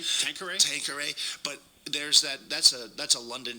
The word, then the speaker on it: Tanqueray: Yeah, because we had a story about Tanqueray gin.